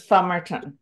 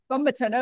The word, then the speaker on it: Fumerton: It should be Fumerton, but I say Fumerton. Okay, yeah, I'd been saying Fumerton, which is wrong, apparently, so. No, it's correct, but it's not the way I pronounce it.